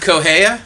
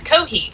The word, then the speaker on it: Kohi: Not Kohea? No, it's not. It's Kohi.